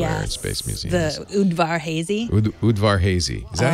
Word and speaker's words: Udvar-Hazy: The Udvar-Hazy. Udvar-Hazy. Is that how you pronounce it? Yep, Udvar-Hazy.